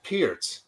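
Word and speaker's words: Peart: Um, and Neil Neil Pier, I used to pronounce it perk, by the way.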